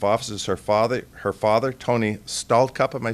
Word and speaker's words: Stallcup: And I believe who will be performing the oath of office is her father, Tony Stallcup.